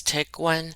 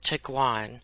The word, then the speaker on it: Tiguan: grouches least Volkswagen Tiguan I hope I've said took wine correctly some people pronounce it as tick one and some people pronounce it as tick wine I'm gonna say two Guan I did find out that it's actually a cross between tiger and iguana that's why I'm gonna say to Guan and people actually voted